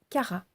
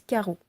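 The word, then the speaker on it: Чара: Et parce qu'on la trouve aussi près d'un fleuve nommé Kara. Certains disent Karo, mais il faut savoir qu'en russe, le O peut être prononcé A selon son emplacement dans le mot.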